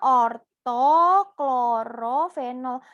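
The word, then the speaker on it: orto-klorofenol: Bacanya orto klorofenol.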